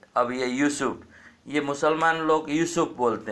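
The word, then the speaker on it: יוסף: लेकर डाल रखे हैं यूसुफ नहीं बोलना चाहिए योसेफ बोलना चाहिए और याकूब से योसेफ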